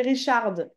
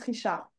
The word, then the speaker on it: Richard: La première, tu avais dit Richard. C'est un prénom, le D se prononce pas. On dit juste Richard.